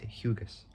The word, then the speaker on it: Hugus: So by Ed Hughes, spelled Hugus. Can't really pronounce it wrong.